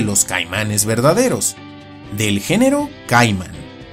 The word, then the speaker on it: Caiman: caimanes verdaderos, del género caiman. Y sí, se pronuncia caiman y no caimán, porque esta última es la pronunciación del nombre común en español, y caiman es como se debe pronunciar en latín.